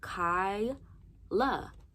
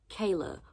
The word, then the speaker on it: Kyla: name is Kyla k-y-l-a sound it the out Kai La Kai La common sense it's spelled J it sounds just how it's spelled k-y-l-a four letters Kayla where are you getting the a from where are you getting an extra a k-a-y-l-a where the [ __